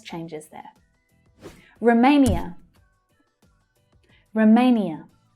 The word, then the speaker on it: Romania: Now the main stress is on the second syllable. So it's A as in day. Romania. And the first syllable is unstressed, so it reduces right down. Sometimes to the schwa, sometimes you'll hear Romania, but usually the schwa.